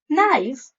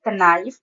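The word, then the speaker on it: knife: नहीं करना होता है for example नी नाइफ not know ड आई प्रोनाउंस कनी क नाइफ कनॉट कनो नो बिकॉज के is silent so I pronounce it नी नाइफ नॉट एंड नो so here is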